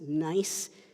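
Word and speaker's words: gneiss: short passage one is the word that's pronounced nice is spelled g NE I SS nice the metamorphic rock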